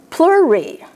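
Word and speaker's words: pleurae: For instance, when you have an A and an E at the end of a word, 99% of the time, there is an exception always, 99% of the time, you only pronounce the second vowel.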